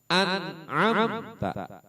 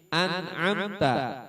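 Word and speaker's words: أنعمت: Jelas bagaimana? Anamta. Annnya bukan amnya tapi anamta. Nun mati bertemu dengan huruf ain.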